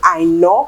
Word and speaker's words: Aina: Her dad is Nigerian, hence the name Jackie Aina. That's actually the way we pronounce it over here in Nigeria.